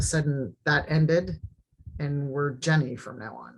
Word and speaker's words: Zhen: did you you pronounced because it's like Jen or Jenny yeah you did and you said Jen um but yeah so